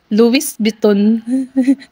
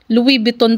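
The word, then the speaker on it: Louis Vuitton: ko ding binasa yan Louis biton may S kasi ' ba Luis biton yun ang ano ko yun pala silent s Louis Louis biton pa lang pag bigkas niyan eh Alam mo na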